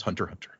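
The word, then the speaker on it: Hunter × Hunter: X Hunter is a silent symbol, a stylistic choice by the creator, Yoshihiro to Toashi, and is meant to be pronounced as Hunter Hunter.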